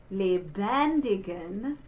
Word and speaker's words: lebendigen: So it, like in is, not in, but in, dem, there's the closed E, lebend, we have a closed E followed by an open E, lebendigen Gott.